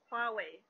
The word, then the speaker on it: Huawei: Und ja, Huawei wird auf Chinesisch Huawei ausgesprochen.